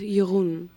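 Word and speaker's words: Jeroen: His real name is Yurun. J E R O A N. But nobody can pronounce it.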